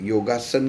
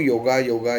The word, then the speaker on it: योग: वह योगासन हुआ है हम लोग योगा योगा योगा करते ही होगा नहीं है वह पाश्चत्य संस्कृति में उसका उपचार शायद योगा किया हुआ रहेगा लेकिन हम लोगों को भारत यह परंपरा के अनुसार उसका उच्चारण योग्य ही करना है है और आत्मा